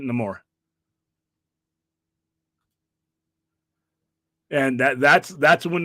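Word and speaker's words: Namor: says it no more I grew up calling it Neymar but he in the movie he pronounces it no more and that that's that's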